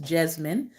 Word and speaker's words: Jesmyn: women tonight's african-american profile is jasmine ward that's pronounced jasmine j e s y and wonderful color illustration